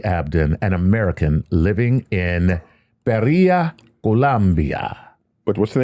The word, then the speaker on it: Pereira: It's an E-I-R-A? That sounds Portuguese. E-I-R-A. Yeah. Pereira, Portuguese, Colombia. they put the E in front of the I. Yeah, okay.